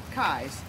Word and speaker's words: Kais: presidential running mate nikki kais also appearing to be keys but it's actually pronounced kai's nikki leshannon kai's stinette